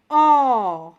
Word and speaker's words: ओ: उसके बाद ओ, इसका सही उच्चारण है ओ। आओ इसका उच्चारण नहीं है।